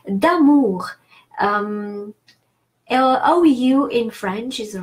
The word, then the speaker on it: amour: So amour does not obey this rule.